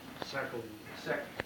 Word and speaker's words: Salkin: Phil Salkin, is that how you pronounce his last name? Sackle, Yeah. Sackle, And the council remembers, after